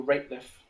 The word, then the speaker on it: Rateliff: say his name again uh rape rateliff nathaniel rapeliff r a t e l i double f